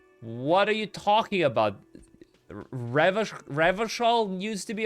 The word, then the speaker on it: Revachol: Should we start mispronouncing Revachol as well to Revacol? I don't know if I want to.